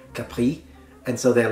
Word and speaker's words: Capri: end no one says hey let's go to Capri it's Capri once again since we are talking about Islands